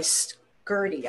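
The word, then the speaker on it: Scurti: They're called S-C-U-R-T-I, Skirty, I guess it's pronounced.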